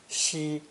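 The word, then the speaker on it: 西: to reinforce that idea this character is pronounced first tone shi shi and unsurprisingly means west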